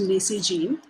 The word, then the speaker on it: Nasegene: Nasegene originated from the word necessary and pronounced Nasegene, a line of completely sustainable products made from all denim industry waste.